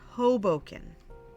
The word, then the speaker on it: Hoboken: wanted to give positive encouragement before teasing it's pronounced Hoboken and I've been to Hoboken many times it's right outside the city New